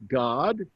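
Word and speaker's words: Gad: a d that's pronounced God there's a son of Jacob named God g a d remember that a is not like in English it's an a sound and God his name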